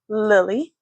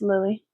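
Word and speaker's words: Lillie: So, again, my name is Lily. It is spelled L I L L I E.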